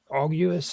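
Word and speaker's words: olguis: Uh, Auus is how they say it there.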